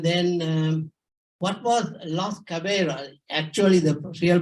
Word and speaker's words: Caballeros: first event and then um what was last cavera actually the real pronunciation Spanish which means the gentleman and um